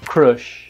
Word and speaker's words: crush: é minha crush e a gente falar crush crush não tem ninguém no final só mais tarde e a pronúncia original é crush porte no começo de novo crush i have a